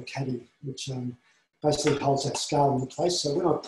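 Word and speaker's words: Skale: And with time, there's new scales coming online that you can use. So this is called scale spelled with a K, S-K-A-L-E.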